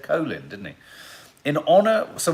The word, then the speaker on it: Colin: but why that's interesting because i'd always say colin but he said colin didn't he in honor so why did he change the pronunciation of his name one in honor of